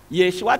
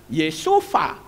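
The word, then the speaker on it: ישוע: Kalau Yahweh jadi YHVH, harusnya kan Yeshua jadi Vau. Tapi faktanya tidak. Ya, membacanya juga bukan Yesufa, tetapi Yeshua.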